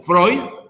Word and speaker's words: Freud: pero segismundo freud o fue un escrito fred pero pronunciado como freud a través del psicoanálisis